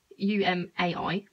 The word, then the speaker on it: Umai: next thing is a the way i pronounce it because my great british accent is ooh my cheese rings oh my cheese rings it's actually umai which is ring cheese